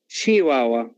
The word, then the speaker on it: Chihuahua: Some examples are the toy dogs, such as Chihuahua or Chihuahuas, Chihuahua. Okay, so this one is pronounced as Chihuahua.